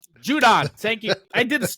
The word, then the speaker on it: Judon: I'm not saying his last name wrong. Judon. Thank you. I called it Star Wars. I went Star Wars on that. Sorry. I was like, who the hell is Jadoon?